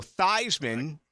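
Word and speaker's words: Theismann: he that's right it was thian became Joe thyman because he wanted to rhyme with winning the Heisman which he did not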